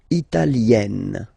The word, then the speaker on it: italienne: L'Italie, Italien, Italienne. Remember, when you get this E followed by a double consonant like here, then you will have to open it.